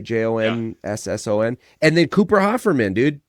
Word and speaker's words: Jonsson: realized it was David Johnson. That's how you pronounce that, right? Jonsson.